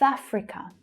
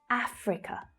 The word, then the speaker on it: Africa: South Africa. So in the first word, we have the ow as in now vowel sound and the unvoiced th. South. South. South Africa. Africa. Is the strongest syllable in Africa.